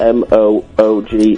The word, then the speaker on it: Moog: The Monkees were the second group to use the Moog, spelled M-O-O-G, Pronounced Moog, synthesizer on a pop album.